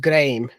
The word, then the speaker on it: Graham: Malcolm Graham, whose name is pronounced Graham, in the way it's named, rhymed in the poem.